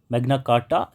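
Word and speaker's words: Magna Carta: American declaration of independence 1, मैग्ना कार्टा 2, मैग्ना कार्टा इज the right pronunciation, universal declaration of ह्यूमन rights 3, French revolution.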